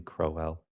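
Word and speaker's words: Crowell: Good morning, Miss Crowwell. Am I pronouncing it correctly? Crowwell.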